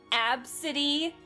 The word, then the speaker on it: Abcde: Did you know that's the actual pronunciation for that name? Ab city.